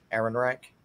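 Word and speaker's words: Ehrenreich: today um Barbara uh how do you say her name Aaron Reich Aaron Reich yeah that's how you say uh Barbara Aaron Reich she actually she went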